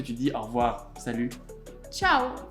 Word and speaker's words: Tchau: Bon, alors pour conclure cette vidéo, comment est-ce que tu dis au revoir, salut, Ciao. ciao? Ah oui, comme en italien.